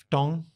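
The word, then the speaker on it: Foton: Ftong. What? Ftong. What? I believe that's how it's pronounced. F-T-O-N.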